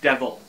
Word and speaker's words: Diabhal: back here a dia b h al is pronounced devil so that's one problem that i'm going to